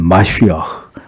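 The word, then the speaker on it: מָשִׁיחַ: 그리스도는 크리스토스, 히브리어로는 마시아흐, 우리가 아는 메시아, 원래 발음은 마시아흐인데 그 의미는 기름 부음을 받은 자라는 뜻입니다.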